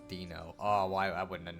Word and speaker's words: Dino: pet whose name is spelled Dino but it's pronounced Dino oh why I wouldn't have known wild animals